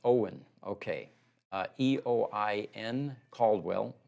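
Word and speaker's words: Eoin: comment here from Instagram first name is pronounced Owen okay e-o-i-n Caldwell Owen Caldwell thank you for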